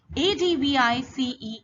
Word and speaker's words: advice: what is that sound listen to it carefully a d v i c e is advise sir s sound is there advice